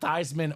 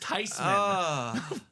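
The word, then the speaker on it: Theismann: and we found out that technically it's not thyman or theeman it's tyman it's tysman it's actually pronounced tysman for Joe uh so in all his life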